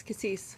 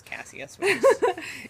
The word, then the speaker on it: cassis: Oh, that's cassis. Cassis. I was saying it is Cassius.